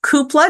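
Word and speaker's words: Cúpla: So Koopla, now I know how to pronounce it. Koopla Focal.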